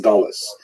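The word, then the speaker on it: גלות: In Hebrew, galut, or in a Ashkenazic pronunciation, galus, that Jews were thrown out of their land.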